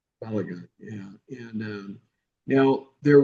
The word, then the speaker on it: Balogun: Uh, how do you pronounce it? Balagun. Balagun.